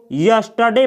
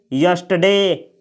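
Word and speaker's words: yesterday: ये जो शब्द है इसको यस्टरडे पढ़ा जाता है, यानी इस शब्द में यहाँ का जो आर है उसका उच्चारण नहीं किया जाता है। इसको आप लोग पढ़ेंगे यस्टरडे, यस्टरडे।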